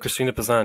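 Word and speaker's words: Christine de Pizan: Christina Pazan, yes. Who was she and what did she do? So when I told people that I was going to do the first episode about Christina Pazan, the first question was, who is Christina Pazan?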